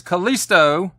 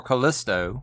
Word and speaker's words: Callisto: but anyway number 10 here's callisto or callisto whichever way you like to pronounce it from the amazon exclusive